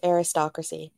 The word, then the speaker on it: Eristocracy: Yeah, it's a play on the word aristocracy, so It's just pronounced the exact same way. So it's aristocracy, like aristocracy.